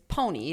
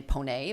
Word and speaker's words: Ponee: It's Ponee, but Ponee. my grandfather was from St. Pierre-Miquelon, so it was originally Ponee, but everyone's always said Ponee. Ponee does Yeah. sound fancy. But That's Ponee like is much more